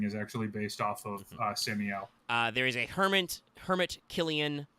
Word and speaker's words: Samiel: The Black Huntsman is Samiel, not Sam Yeah, but Samiel. Sam-E-L.